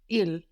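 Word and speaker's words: île: French is spelled I how would that sound sound ill ill ill the same as he the word for stor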